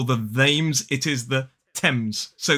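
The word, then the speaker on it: Thames: it is not the themes or the themes it is the TS so that th is pronounced T TS uh and as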